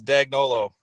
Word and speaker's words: Dagnolo: It's Dagnolo.